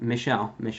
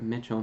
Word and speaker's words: Michelle: Michelle, not Mitchell.